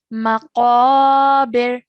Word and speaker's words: مقابر: Try and make that qaf sound, thick, heavy sound, okay? Maqabir.